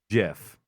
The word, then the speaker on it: GIF: yes the answer is the person who created the acronym hi kitty wants it to be pronounced jiff what everything in the